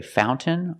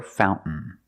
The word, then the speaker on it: fountain: You can say fountain or fountain. Both are fine.